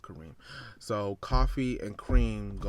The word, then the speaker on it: Kareem: It's really supposed to be like Coffee and Cream. His name's Kareem. It's pronounced Kareem.